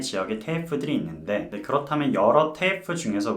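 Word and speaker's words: TAFE: 그 학교는 바로 퀸즐랜드 테이프라는 학교입니다. 테이프, 제대로 발음하면 테이프인데요.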